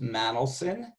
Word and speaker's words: Manolson: my surname is Manolson, and it's pronounced Manolson.